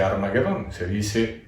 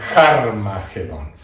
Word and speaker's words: Harmagedón: llama a este apóstrofe, lo cual significa que no se dice Armagedón, no se dice Armagedón, se dice Harmagedón. Y como en griego la G no suena G, sino G, es Harmagedón, eso es en griego.